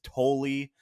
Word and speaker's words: Tolle: Couldn't figure out what the pronunciation of his last name is. It is Tolley.